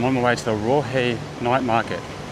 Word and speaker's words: Raohe: So it's pronounced Raohe, but it reads like roast or something like that.